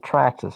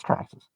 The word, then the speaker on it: Traxxas: but yeah you got to say it right traxxas i even know that i don't even i'm not even an rc and i know it's traxxas uh but anyway i don't know if you're